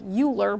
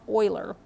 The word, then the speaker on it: Euler: mathematician Leonard Euler I know it looks like Euler but it's pronounced Euler introduced the symbol I to represent the square